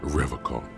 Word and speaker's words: Revachol: river call he pronounces rivercon with a hard k unlike other people serious question time this